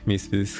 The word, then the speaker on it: MSFS: By the way, Misfits, how Jesus pronounces MSFS, and I like it because it goes smoother through your mouth.